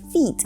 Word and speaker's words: feet: In the word feet we have a long E sound. This means that when we pronounce the word fit, we use the short ih, fit.